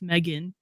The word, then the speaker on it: Megan: My name's pretty easy to pronounce, Megan. Mhm, mhm. And it looks how it's spelled, and that's how you pronounce it.